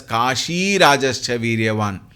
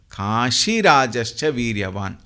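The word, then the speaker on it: काशिराजश्च: It is not Kashi, Dirgha is not there. Kashi Rajascha Viryavan. Kashi, if you pronounce it separately, then it is Dirgha. But when it is a compound, the Dirgha turns to become Rasva and then it will be Kashi Rajascha Viryavan. Please remember this.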